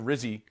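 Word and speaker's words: Rizzi: coach of the Saints I would like it to rhyme with fizzy fizzy yeah but I mean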